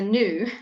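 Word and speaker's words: gnu: GN which is a new okay it's not a g um or is it a G new but anyway we not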